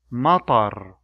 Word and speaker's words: مطر: طويل, مطر, خياط.